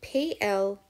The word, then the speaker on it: pleasant: the P-L-S ant, and that E sound at the beginning of the word is with the graph E-A. So P-L-E-A-S-A-N-T.